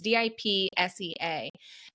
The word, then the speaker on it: Dipsea: One is called Quinn, Quinn, and one is called, I think it's pronounced Dipsea. I could be wrong. It's Dipsea.